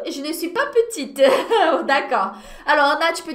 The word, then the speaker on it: petite: Le féminin, aí é só acrescentar um eu depois, e aí eu passo a pronunciar a consoante que veio antes. Grande, petite.